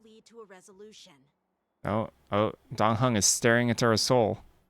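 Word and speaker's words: Dan Heng: Dong Hung. Yep, that's how they pronounce it.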